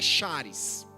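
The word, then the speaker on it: χάρις: o Novo Testamento, a expressão que aparece é charis. Tanto o termo em como o termo charis sugerem a ideia de favor concedido a alguém que não merece.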